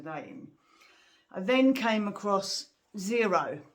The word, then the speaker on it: Xero: i then came across zero and that's spelt with an x x e r o and they have a